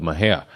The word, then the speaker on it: Mexia: about 15 minutes away from this town called Mahia. It's pronounced Mahia, spelled Mexia, right?